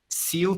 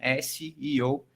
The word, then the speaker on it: SEO: é a pronúncia correta, SEO também não é, CEO é o presidente da empresa, então também não é o SEO, e o SEO se realmente pronuncia cada letra de forma individual, tá? Então, SEO, essa é a forma